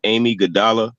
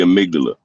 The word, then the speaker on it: amygdala: say it is amygdala it's spelled amy godalla but it's called the amygdala it's basically like what